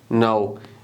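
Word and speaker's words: know: पर क्या लगाएंगे यू नाउ के इ साइलेंट यर यह चिकन कनोर की तरह नहीं पढ़ना इसको कनो नहीं पढ़ना ट इ नाउ आफ्टर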